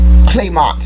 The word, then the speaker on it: clamant: Now that I'm looking at it, it's pronounced It's Clement. Claymont, which means clamorous or blatant.